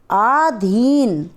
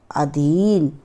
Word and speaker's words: अधीन: आधीन शब्द शुद्ध होता है अधीन।